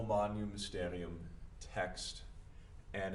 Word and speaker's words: magnum: In the late Latin scheme that we're using here, the GN, that's the same thing as Spanish ñe sound. So that's how I've represented it here. O Magnum.